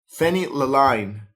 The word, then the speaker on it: phenylalanine: DL, and I'm going to spell it out for you. PHENYLALANINE.